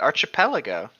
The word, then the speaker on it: archipelago: archipelago archipelago they're wrong or Chapel I go what's archipelago yeah that's how you say it arch Apella go well I said bottles